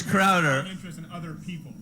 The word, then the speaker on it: Crowder: Well, that's why he got the name wrong. I just want to make sure that it's Crowder.